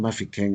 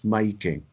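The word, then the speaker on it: Mahikeng: It's not Mafeking, it's Maikeng.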